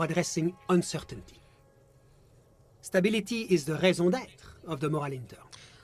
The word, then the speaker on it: raison d'être: Stability is the raison d'être of the Moral Intern. Oh, that's how you pronounce it. Raison d'être.